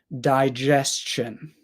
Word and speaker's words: digestion: for you guys again die like die dead die just schw sound lazy schw sound right here Chin Chin Chin digestion digestion however sometimes you